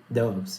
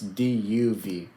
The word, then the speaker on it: doves: Are you saying doves? Dopes, yeah. Dove. Doves. Say it like this. DUV. DUV, doves. Yeah, there you go.